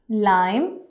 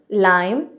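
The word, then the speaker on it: lamb: हम इसको कैसे प्रोनाउंस करेंगे? क्लाइम, लाइम, थम, प्लम्बर, क्रम, कॉम, लैम। अब यहाँ पे कहीं पे भी बी नहीं बोला जाएगा। क्लाइम, लाइम, थम, प्लम्बर, क्रम, कॉम, लैम।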